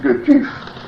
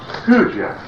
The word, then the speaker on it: Gurdjieff: And in the Slavonic tongues, the G, of course, is not pronounced at all, almost like a Y. So the correct pronunciation is something like Gurdjieff.